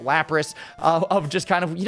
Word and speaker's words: Lapras: Did I just say Lapras? That's not how you say it. Lapras.